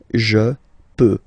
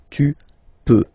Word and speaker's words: peux: Final X not pronounced here, okay? So you get X, but you don't pronounce it, so basically you get the sound peut, je peux. Okay, so I can, je peux. Okay, then tu peux. Same pronunciation and same spelling or writing. Okay, P-E-U-X. Okay, you don't pronounce the final X.